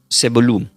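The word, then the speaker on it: Zebulun: Que del hebreo se pronuncia como Sebulum, que sería Z e V corta U l u con acento y N.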